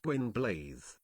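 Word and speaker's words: Gwynbleidd: Hate Gwynblade, but this is kind of good. Hey, you pronounced Gwynblade the proper way, did you hear that? The Welsh way.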